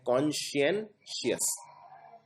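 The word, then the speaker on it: conscientious: कॉन्सेंशियस में आपको पहले इसको प्रोनाउंस ढंग से करना है, कॉन्शियनशियस, तो ये आपकी कॉन्शियस से रिलेटेड है।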